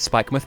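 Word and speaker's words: Spikemuth: on spike myth next i feel like they should have spelled it with an o but then still pronounced it spike myth because that is kind of how we do but you know whatever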